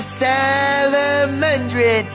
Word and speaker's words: Salomondrin: Welcome back to yet another episode of Salomondrin. That's right, that's how I pronounce it.